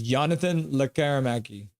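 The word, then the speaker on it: Jonathan Lekkerimäki: Alvin pronounced the J as a Y and no I in his name. So it's Jonathan Lekermacki.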